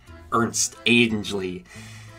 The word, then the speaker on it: Ernest Angley: In case Heritage Christian School wasn't enough for him, there was the Reverend, the great Reverend Ernest Angley, or as he pronounced it, Ernst Angley.